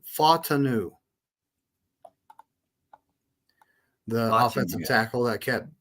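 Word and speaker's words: Fautanu: He actually pronounced Troy's last name in the chat. It's Fatanu, the offensive tackle that kept dropping to us.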